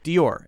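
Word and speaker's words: Dior: word that I don't know how to say D or is how we say it D or two syllable word it doesn't sound like it dear what could be one syllable no D or D or D or two syllable word okay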